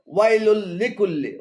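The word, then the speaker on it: ويل لكل: এখানে ওয়াইলুল্লি এবং কুল্লি উভয়টি ভুল উচ্চারণ। শুদ্ধ উচ্চারণ হবে ওয়াইলুল লিকুল্লি, ওয়াইলুল লিকুল্লি।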